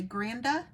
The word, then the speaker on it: Granda: You say Granda for your dad, for your grandpa?